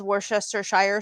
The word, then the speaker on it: Worcestershire: But that's not how it's pronounced. But that's how everyone says it because people do not bother of actually pronouncing it how it's supposed to be said because it's Worcestershire sauce.